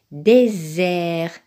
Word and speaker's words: désert: premier mot très bien le premier mot se prononce désert un désert donc le S se prononce et